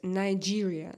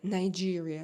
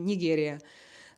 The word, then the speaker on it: Nigeria: Caro James, Nigeria, Nigeria. Now I know how to pronounce correctly the name of your country, thanks to my husband, because last time I called you Nigeria, like in Russian.